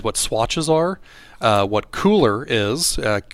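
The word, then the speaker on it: Kuler: swatches are uh what cooler is uh cooler spelled with a k k-u-l-e-r uh and then we're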